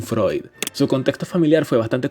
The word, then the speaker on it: Freud: No Freud, por favor aprendan a pronunciarlo, no es posible que estén a punto de graduarse de licenciados en psicología y sigan diciendo Freud, coño, Sigmund Freud.